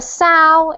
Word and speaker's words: sow: on and that is sows ismail sows so a sao is different pronunciation to the verb which is to so even though it's the same spelling what is a sow